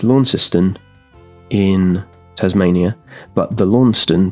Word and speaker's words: Launceston: and, you know, maybe somewhere here outside of Lawniston. I think that's how you say it. It's Lawnciston in Tasmania, but the Lawnston that I believe it was named after in Cornwall in England is pronounced Lawnston.